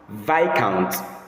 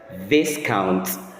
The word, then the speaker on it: Viscount: The word appearing on the screen as you're watching this video, it is correctly pronounced as vic count. Vic count instead of mispronouncing it as discount.